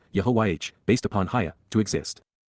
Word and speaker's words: Yahowah: contempt, by Yahowah, Yahowah, God's personal and proper name, pronounced, Yehovah, based upon Haya, to exist.